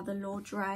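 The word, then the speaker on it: Ladurée: Actually got me these are the Lord, which is how I say it. I believe that is how you say it.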